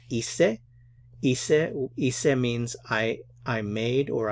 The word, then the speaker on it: hice: Remember that the H is silent. So we have hice.